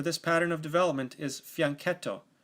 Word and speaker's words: fianchetto: is developed to B7 or G7 the proper pronunciation for this pattern of development is fianchetto fianchetto is an Italian word that means little flank